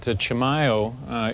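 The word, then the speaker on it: Chimayó: there well let me just point out that Chimayo isn't unlike a lot of towns in America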